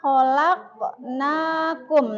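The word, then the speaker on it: خلقناكم: Khalaq khq. Ah. Bacaan apa itu? Qolah artinya meman memantul. Gimana bacanya fragil? Khalaq. Nah, jadi dipantulkan qopnya itu ya.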